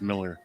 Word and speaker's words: Millar: that's a good point mark himself has said it's just pronounced miller yeah yeah uh by